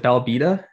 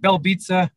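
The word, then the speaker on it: Belbiță: Is it Belbita? Yeah, I think Belbita. Yeah, I think they say Belbita. It's like pizza.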